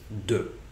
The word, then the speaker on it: du: never do it banana a quick pronunciation note at this point and that is du is often shortened to a simple D sound that can be very difficult to catch for French learners so to use that